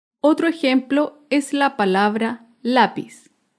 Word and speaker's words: lápiz: ejemplo es la palabra lápiz lápiz es una palabra grave porque se acentúa en la penúltima sílaba lápiz un ejemplo de